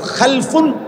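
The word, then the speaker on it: خَلَف: হয় আরবিতে একটা হলো খালফুন আরেকটা হল খালাফুন একই শব্দ শুধু উচ্চারণের মধ্যে একটু ভিন্নতা মাঝখানে একটা লাম আছে এই লামটার মধ্যে যদি সাকিন হয় তাইলে হল খালফুন আর যদি লামের মধ্যে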